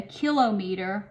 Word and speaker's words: kilometer: kilo lowercase K so this would be a kilo meter or a kilometer though they're appropriate pronunciations so there are 1000